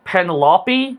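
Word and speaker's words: Penelope: I like I know I know they say the name differently. Penalopey. Penalopey. I think that's how they say it. I only say Pendalopee because I just think it's easier.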